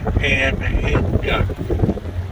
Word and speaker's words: Anhinga: There's a that's a female Anhinga, brown and black. The males are black and silver. Three syllables. Anhinga.